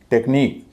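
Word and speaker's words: technique: जब भी आप ऐसा शब्द देखें तो उस आई का उच्चारण हमेशा बड़ी ई होगा। यूनिक, टेक्निक, सो टेक्निक नहीं कहेंगे, यूनिक नहीं कहेंगे, यूनिक।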